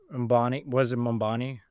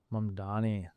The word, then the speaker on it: Mamdani: Mambani? The election. Mamdani. Yeah, no one can pronounce his name.